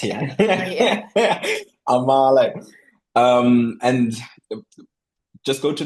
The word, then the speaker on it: Amahle: Amashe is a m a h l e. Or Amale, as you like to pronounce it. Yeah. Amale.